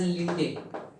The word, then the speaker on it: Landé: As we have discussed in our first video, the magnetic quantum number was proposed by Landé and some pronounce it as Linde.